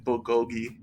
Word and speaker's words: bulgogi: Because she's listening to the podcast and she's mad that I don't pronounce the L in bulgogi.